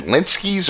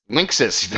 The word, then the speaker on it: Linksys: But is it Linsky's or Linskys or I have no idea how you pronounce that company's name.